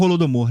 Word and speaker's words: Holodomor: chega no holodomor né a pronúncia é é holodomor rol es com H é em em ucraniano fala golod golod domor né enfim são é porque mas eu posso falar holodomor ou pode falar holodomor é porque já foi a aportuguesada né a palavra eu falo rolo domor porque é mais uma pronúncia ocidentalizada mesmo né rolo do amor mas